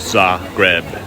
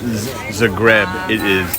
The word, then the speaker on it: Zagreb: there are literally no flies in all of za greb okay let's do the outside and then we'll